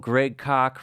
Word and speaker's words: Greg Koch: It's good old Greg Koch, rhymes with chalk, a guitar hero of mine for the last 20 years.